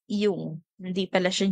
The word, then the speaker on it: Jung: is Carl y Okay it is Actually pronounced as yung hindi pala siya Jung Carl yung so Naniniwala